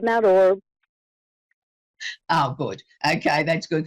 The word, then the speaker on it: Mount Orab: Yeah, you did a pretty good job, Mount Orb.